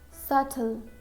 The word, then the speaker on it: subtle: We use silent B when it comes before letter T or after letter M. For example, subtle, subtle, debt, doubt.